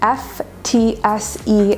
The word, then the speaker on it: FTSE: term is the abbreviation f t s e and it's often pronounced ftse like when you're playing footsies in grade school under the desk and this stands